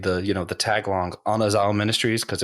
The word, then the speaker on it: Anazao: behind it okay so it's technically pronounced anaz because there isn't like a a sound in like that coin Greek which is really difficult so we pretty much all say anaza anyway just letting everyone know